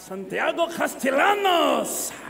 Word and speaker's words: Castellanos: at all that's if there's four syllables of the last name I give up Castellanos yes it's like hello my name is Castellanos do you want me